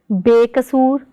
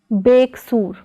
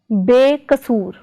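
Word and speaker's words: ਬੇਕਸੂਰ: Prefix be plus kasur is pronounced as bekasur, not as beksur, but as bekasur.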